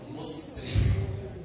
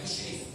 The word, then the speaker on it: musrif: Ada satu israf, pelakunya disebut musrif, bukan musyrif, musrif.